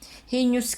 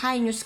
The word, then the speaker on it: heinous: Heinous crime. Yung iba, ang pagbigkas nila is heinous crime. Yung iba is heinous crime. Okay? H-E-I-N-O-U-S.